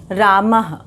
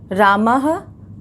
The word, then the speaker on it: रामः: लोगों ने देखा, और विसर्ग का उच्चारण जो है वो ह की तरह होता है। विसर्ग जो है वो हम लोग देखेंगे, विसर्ग का निशान इस तरह से लगाया जाता है ऐसे करके, और इसका जो है वो ह की तरह इसका उच्चारण होता है, जैसे रामः, रामः, और गजः, गजः, अश्वः।